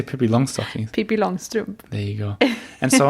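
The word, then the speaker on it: Pippi Långstrump: Pippi Longstrump.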